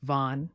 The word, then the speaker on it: vent: beautiful skies and finally vent meaning wind pronounced V can range from a